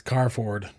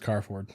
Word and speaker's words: Kvarfordt: It's Kvarfordt. Kvarfordt. Yeah. Kvarfordt. Is that German? Swedish. Yeah, if you look at the spelling, there's a V and a T in there. Okay. But yeah, it's pronounced Kvarfordt.